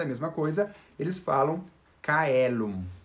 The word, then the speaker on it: caelum: de cristo eles realmente a letra c era anunciado como um carro e não como iminente como a gente faz por exemplo chelo então para produzir é